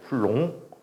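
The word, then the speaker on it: Coulomb: 비는 무궁이야 프랑스 분이거든요 프랑스에서는 이걸 쿨롱이라고 해 쿨롱 근데 우리나라는 두 가지 방법으로 얘기할 수 있어요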